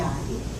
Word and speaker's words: Artea: her name, you see, we're from Massachusetts, we don't pronounce R's that come after A's. You know, park the car in the Harvard yard. So in actuality, before they changed her name, she was Auntie Artie.